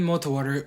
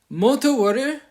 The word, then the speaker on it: Multi-War: it real quick um mot water is pronounced is literally multi as in multiple things and then water short for warrior I just pronounced it like water because it fit nicely especially combining with multi so yeah that's that's literally